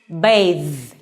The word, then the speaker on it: bathe: this one is pronounced bathe okay so this is a voiced consonant okay so when we